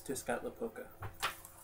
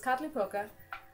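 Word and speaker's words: Tezcatlipoca: It's tiscat poka. Very close. Pretty easy. I was dead on. Yes, it's tatly poka. Uh, you have the tl in the middle of the end there. Tatly poka.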